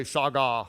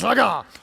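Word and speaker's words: שָׁגָה: Everybody say shagah. You have to say it like that with attitude. It doesn't work if you say shagah, okay? It's shagah. This word in the Hebrew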